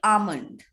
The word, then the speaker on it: almond: and asthma or asthma its l sound is silent we call it almond yes so this is